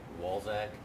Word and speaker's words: Walczak: It's the regular spelling, but I'll let him spell it for you. Sure. It's WALCZAK. Say it one more time. Walzak, WALCZAK.